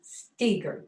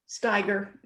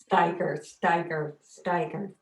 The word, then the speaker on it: Staiger: So our next reader will be Bonnie Larson Staiger. Did I say it right? No. You're going to have to unmute, get it right. Steiger. Steiger.